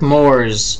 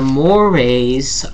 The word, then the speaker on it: mores: camera mores top word it looks like Moors to rhyme with s'mores mores is the plural of most and the Moray are part of our